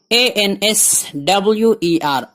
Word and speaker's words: answer: ANSWER answer, answer نہیں, W silent ہے, answer, answer جواب یا جواب دینا.